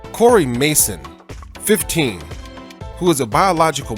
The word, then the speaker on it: Maison: And I know that that word could be pronounced both ways. So I'm going to say Mason. Cory Mason, 15, who is a biological male and who